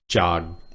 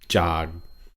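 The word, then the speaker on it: จาก: Next word, jog, low tone, jog, low tone. It means from, jog. Now, this K, sound right there is very often pronounced kind of almost like a GK, right?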